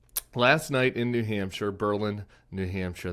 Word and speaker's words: Berlin: night in New Hampshire Berlin New Hampshire they pronounce it Berlin not Berlin um someone who's done